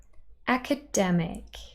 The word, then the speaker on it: academic: Here we've got ac-a-dem-ic, 4 syllables. The main stress is on the third syllable, dem, academic, But the first syllable actually carries secondary stress. It's not as quiet and unstressed as the second, which is just a schwa, and the last, which is just ik.